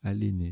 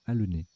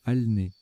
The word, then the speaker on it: alener: Alors je les ai mal prononcés tout à l'heure, j'ai dit anneler et aléner, c'est l'inverse, c'est annéler et alener, même alner.